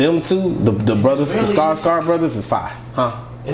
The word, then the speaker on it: Skarsgård: I mean, Skarsgård.